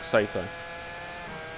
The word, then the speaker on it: Sato: Sato.